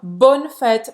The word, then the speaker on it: bonnes fêtes: Bonne fête, presta atenção que os S's no final não vão ser pronunciados, tá?